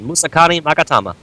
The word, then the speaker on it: Musakani Magatama: 2 Bottomless, 3 of the Muskanaga, I can't pronounce it. The one that starts with an M. What'd you say, Natsu? I said Musakani Magatama.